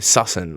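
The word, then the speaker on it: Sussan: So her name is spelt S-U-S-S-A-N. Susan. Like. Yeah, so it's Susan. It's S-U-S-S-A-N.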